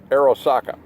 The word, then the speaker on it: Arisaka: I think it's pronounced Arisaka.